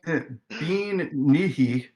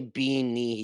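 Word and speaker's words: bean nighe: Banshee, spelled Bean Nye. Bill Nye? Bill Nye the Science Guy? Bean Nihi. Bean Nye the Scottish guy. Scottish rules. Also, you can't just say Bean Nihi.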